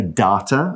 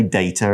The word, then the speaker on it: data: You will hear some people say data and some people say data. It's got two pronunciations.